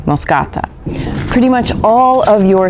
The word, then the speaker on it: moschata: you say it, and Moscata, which has an SCH like in school, or bruschetta. It's pronounced the same way, Moscata.